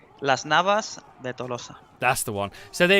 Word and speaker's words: Las Navas de Tolosa: In Spanish, yes. Okay, in proper Spanish. Las Navas de Tolosa.